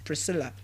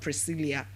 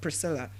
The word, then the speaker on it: Priscilla: It's pronounced as what? Sharon. Now we also looked at another name as Pris, Priscilla, and not Priscilla. It is not Priscilla, but what? Priscilla.